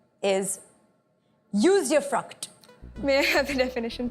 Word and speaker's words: usufruct: Usufruct. Am I pronouncing it correctly? You are.